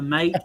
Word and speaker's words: MATE: I'm sorry, Budgie, but you barely lose to Mate and Cinnamon for me.